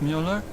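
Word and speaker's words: Müller: up version of vert Mueller it's German from my father he said to always insist on the umls otherwise people butcher the pronunciation so often butchered it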